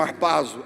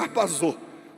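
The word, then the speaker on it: ἁρπάζω: No original grego ela aparece como arpazo. Alguns pronunciam arpazou.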